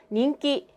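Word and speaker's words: 人気: 자, 먼저 이는요, 닌갱할 때 그 인입니다. 닝으로 발음해요. 그리고 기는요, 비슷하게 키라고 발음하면 됩니다.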